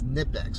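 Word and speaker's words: Knipex: I really think it's nipx I think the K is silent I could be wrong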